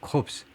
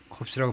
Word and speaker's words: corpse: corpse. 그러니까 이거 corpse라고 발음하면 이 시신이라는 말이 돼요. 그러니까 이거 corpse라고 발음하지 마시고 이거요. 코라고 발음하시고 이거는 corpse. corpse에 해당되는 말이 이제 뭐 bodies 또는 cadaver다 이거죠.